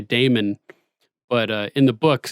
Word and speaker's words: Daemon: us dean says duncan it's damon spelt like mon but sounds like man you're killing me saying